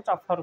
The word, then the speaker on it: chauffeur: बड़ सेलिब्रिटी लोक मानकर जे गाड़ी चलाए ताको चफर कहुए चफर बुझिपारे ये गोटे रिसेंटली गोटे गीत